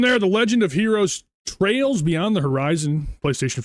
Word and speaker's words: Trails: Do you know anything about the Trials games? Is it Trials or Trails? It's Trails. Oh, this one's Trails. I said it wrong.